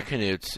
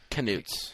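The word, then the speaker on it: Knuts: they're pronounced nudes like brilliant yeah yeah they're canoes if you look on the scholastic pronunciation or newts canutes oh canoes really yeah that's really cool because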